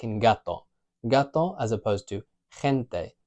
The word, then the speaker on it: gato: U, then it's going to be a hard G, g, like in gato.